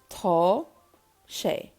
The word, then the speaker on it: tá sé: So it is in Irish is tá, shay. Pronunciation, this is the phonetics here, tá, shay.